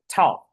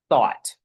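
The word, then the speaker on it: Thoth: we got the word thought. However, because it's t h o t h, we can reverse that pronunciation and we come out with the word or the name thought.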